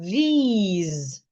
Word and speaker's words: these: I have these and I have this. They aren't pronounced the same way. T h e s e. these. It has the long vowel e t h i s the letter i there.